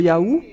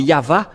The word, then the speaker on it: Yahvah: C'est toujours le V, la vraie épellation. C'est pourquoi c'est Yava, et ceux qui prononcent Yava sont ôtés du péché, mais ceux qui prononcent Yahou ne sont jamais délivrés du péché.